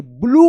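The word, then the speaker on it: blue: ब्लू पढ़ेंगे। ब्लू यहां पे यू का उच्चारण हो रहा है। और ई जो है ना साइलेंट है।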